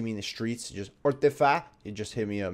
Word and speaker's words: Orcedify: How do you pronounce your name? So it's actually Orcedify.